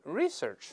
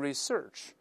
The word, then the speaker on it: research: 但注意 research，当然英国人一般都是 research，美音既可以读成 research 也可以重音前移，